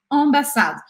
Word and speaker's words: ambassade: E o E ao final das palavras também não é pronunciado.